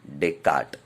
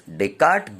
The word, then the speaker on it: Descartes: His name is Rene Descartes. S is silent, children. So this Descartes gave an idea about this position.